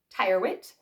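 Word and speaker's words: Charles Tyrwhitt: good next we have Charles Tire wit Charles is spelled c h a r l s space t yr w h TT Tire wit I think that's a fun kind of last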